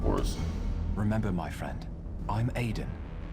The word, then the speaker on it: Edan: Remember, my friend, I'm Edan. Edan. Okay.